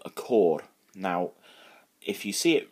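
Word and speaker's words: côr: Now, if you see it written down, it's C-O-R, so it looks like you're saying, "Cor blimey, governor," right? But if you look at the O, I don't know if I can put captions on this thing, but if I can, I'll show you. There'll be one on the screen. There's a little, what we call a torbach, little roof on the O.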